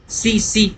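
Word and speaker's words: tsetse: यह एक मक्खी होती है फ्लाई जिसका नाम है सीसी फ्लाई। ठी साइलेंट है।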